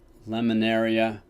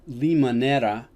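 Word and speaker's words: Limoneira: former lima naira headquarters i always pronounce it wrong i used to pronounce it lemonaria they mostly are one of their major crops is lemons but limonera if i'm saying it right is actually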